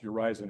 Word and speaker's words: Urizen: I imagine it's pronounced horizon. as the Greek word for horizon or the derived boundaries.